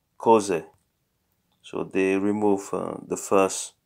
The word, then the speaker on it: Cos'è: And if we have two vowels, it's not like nice to say cosa e. They tend to make a contraction here. Cose.